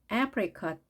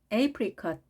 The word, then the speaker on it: apricot: 살구색 apricot 또는 apricot. 첫 글자 모음 A가 에 혹은 A로 발음이 됩니다.